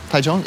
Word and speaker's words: Taichung: Did I say it right? Yeah. DMV, yeah. DMV, no, yeah. Taichung. Taichung, yeah.